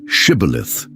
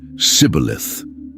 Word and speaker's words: Shibboleth: The Ephraimites couldn't pronounce the esh sound in Shibboleth, saying Sibboleth instead.